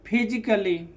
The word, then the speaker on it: physically: फिजिकली, ना कि फिजिकली।